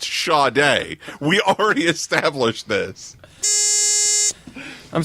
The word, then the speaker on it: Sade: It's Sade. It is Yeah. Sade, sir. Yeah, both the first and last letters are pronounced differently.